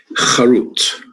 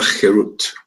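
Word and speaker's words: חרות: Charut, carved on the tables. Do not pronounce it charut, carved, but rather cherut, freedom, to show that they are liberated from the angel of death.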